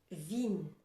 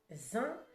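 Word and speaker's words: vingt: Vine. Non. 20. Le son est nasal.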